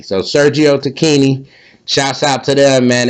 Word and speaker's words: Tacchini: to look it up on YouTube and it's pronounced Tini. So, Sergio Tini, shouts out to them, man.